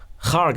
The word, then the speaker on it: Kharg: Treasury Secretary Bessent said Kharg Island, or Karg Island if you pronounce it that way, is nearly out of storage space.